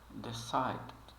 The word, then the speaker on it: decided: de de decided decid ele mal pronuncia esse D final mas ele realmente ele de fato tá ali ele só não é muito pronunciado decided decided então você pode eh treinar para falar ele um pouquinho mais suave decided started needed nós